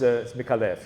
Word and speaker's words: Micallef: And it's weird because my mother pronounces it Micallef, and you're quite right, it's Micallef, yes?